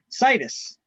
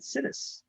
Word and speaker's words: situs: all right back to the class um so situs is what it's pronounced but i mispronounced everything just so that i can understand it better i pronounce it citiz so it's a people's preference for a particular